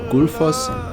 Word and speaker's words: Gullfoss: Also, I am not pronouncing the double L correctly. It is actually pronounced Good. I know so much about this word because it is also a brand of Icelandic beer.